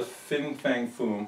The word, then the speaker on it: Fin Fang Foom: And you remember, if you saw the Fin Fang Foom, I said it right, I didn't say Fing.